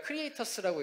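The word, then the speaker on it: xCreators: 크리에이터스라는 저희 nft 마켓플레이스입니다 이름이 저희가 크리에이터스라고 읽는데 다른 분들은 엑스크리에이터스 엑스레이터스 다양하게 읽으시더라구요 저희가 앞에 x를 붙인 이유는 크리에이터의 권한 그리고 크리에이터가 가지고 가는 수익 이런 것들을 곱하기 해 드리겠다라는 그 멀티플라이 기호를 넣어서 크리에이터스라는 이름을 지었고요 그리고 저희의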